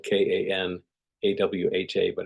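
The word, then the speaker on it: Kanawha: the or the origination of the word cana it's spelled k a n a wh ha but it's pronounced Kana and uh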